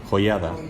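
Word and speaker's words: Joiada: olvid el nombre de juaida eh es bien importante joyada Perdón no pero no no se les olvide que les dije yo dije habl del que pronuncié no juaida es bien importante y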